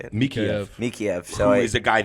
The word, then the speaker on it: Mikheyev: Mikheyev.